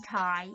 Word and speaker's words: Ty: ty that's my nickname call me ty it rhymes with zai and my name is